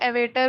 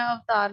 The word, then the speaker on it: avatar: the same avatar image, इसे एवेटर भी बोल सकते हैं, अवतार भी बोल सकते हैं। ठीक है, तो दोनों प्रोनाउंसिएशन सेम इसी वर्ड को रेफर करती है।